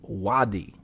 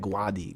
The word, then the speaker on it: wadi: does it mean so guadal is a mispronunciation and what it what it is is wadi wadi so it's wadi but when you pronounce it i guess like a spanish tongue it's like guadi guadagua right but it's wadi so wadi is arabic